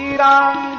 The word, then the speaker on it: राम: मंत्र में नहीं चलेगा राम को रामो बोल दो ये मंत्र में नहीं चलेगा मंत्र में तो मंत्रो